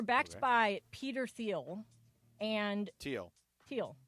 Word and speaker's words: Thiel: Teal. Oh, it's spelled T-H.